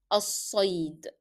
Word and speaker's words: الصيد: صاد again is a shadda letter. We don't pronounce lam in al. And we stress on صاد because it is a shadda letter, a hard letter, so you need to make it hard.